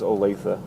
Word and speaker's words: Olathe: I think your pronunciation was just a hair off, a common mistake for Olathe, but nonetheless, the pronunciation is Olathe.